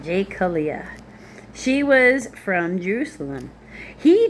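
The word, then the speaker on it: Jecoliah: His mother's name was, I'm going to say Jokala, but hang on. Jekaliah. That's how you say it. Jekaliah.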